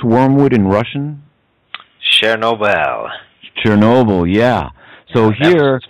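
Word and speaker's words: Чернобыль: Do you know how to pronounce wormwood in Russian? Chernobyl.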